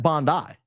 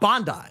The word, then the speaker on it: Bondi: That's not how it's pronounced. It's Bondi. I'm sorry. You Australians don't know how to pronounce your own communities. That is Bondi. And no world is that Bond eye. Unless it had a dash bond dash eye.